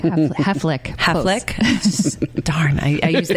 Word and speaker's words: Haflich: Haflich.